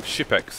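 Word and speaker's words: Xyp9x: Apparently it's like Shipex is how you would pronounce it if you were Danish.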